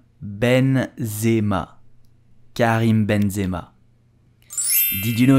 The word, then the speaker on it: Benzema: top of his level so how do you pronounce you will say Benzema Benzema Karim Benzema did you know that Karen Benzema